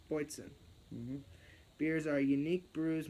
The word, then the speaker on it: Boatswain: Boysen. That's how it's pronounced. Boysen.